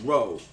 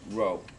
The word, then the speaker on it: rho: an italic symbol it's a greek symbol called row it um it looks like an italic p it's pronounced row it's also the symbol for density we'll be